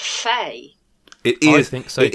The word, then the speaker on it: Fe: just clarify I think it's supposed to be pronounced Fay it is thing so it is 100% fair